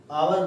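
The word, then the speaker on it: hour: For example, आपने एक word सुना होगा आवर, तो इसमें एच का प्रोनाउंसिएशन नहीं कर सकते, एच यहाँ साइलेंट रहता है, इसलिए इसको हावर नहीं बोलते, आवर बोलते हैं।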